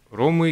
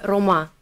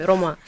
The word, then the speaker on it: рома: Ну, мы ромы, да, говорим о себе, как мы ромы, а вообще мы рома, если говорить о народе, да, национальности, то мы рома.